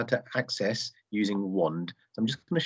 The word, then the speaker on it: Wonde: and passwords well that's where wand comes in wand is spelled w-o-n-d-e and it's almost like think of